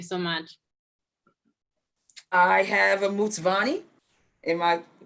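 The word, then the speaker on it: Mtsvane: that thank you so much i have a mutsvani am i saying it correctly 100 so i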